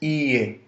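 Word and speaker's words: いいえ: If you paid attention, it's not ie. The first e sound lasts for two syllables, right? It's ie. It's kind of elongated e sound.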